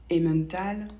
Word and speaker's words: Emmental: Par exemple, le mot femme ou Emmental ou le prénom Emmanuel encore, on ne prononce pas en, donc pas toujours.